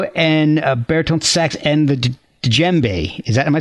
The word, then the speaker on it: djembe: You play oboe, alto, and baritone sax, and the djembe. Is that, am I pronouncing?